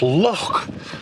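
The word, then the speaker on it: Lough: Well, it's actually pronounced loch, and that might give you a bit of a clue as to how it's got its name.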